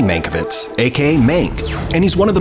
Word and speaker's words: Mank: I still can't pronounce that name, Mr. Kane. It's Mankiewicz, Herman J. Mankiewicz, aka Mank, and he's one of the most influential screenwriters of Hollywood's golden age.